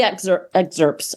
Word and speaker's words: excerpt: It's got 3 excerpts. I never can say that. Excerpt. Excerpts. Pronounce the P.